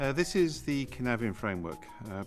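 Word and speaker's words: Cynefin: this is the kenavian framework uh pronounced ken nevin for those of you who don't speak welsh we take the three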